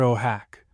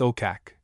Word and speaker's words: Okak: The Eskimo assert that this occurred near oh hack often pronounced okak now a missionary station.